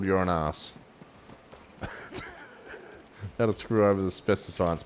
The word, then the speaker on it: Uranus: Some people can pronounce it Uranus, but I guarantee you it's called you're an ass.